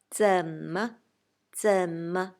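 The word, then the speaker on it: 怎么: of the new words, please pay more attention to 怎么 neutral tone for the second character.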